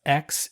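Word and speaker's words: Aix: the X Rosé it's a iix but it's pronounced X evidently this is from the kodex and provance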